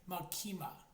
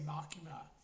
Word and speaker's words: Makima: with you know the Japanese characters say makima. That's how they pronounce but in English they'll say machima. Machia. Yeah it's it's makima.